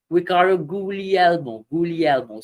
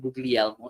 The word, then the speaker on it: Guglielmo: his interviews he performed usually Elmo so the g is silent this way it's not googly Elmo is Ricardo ghoulial uh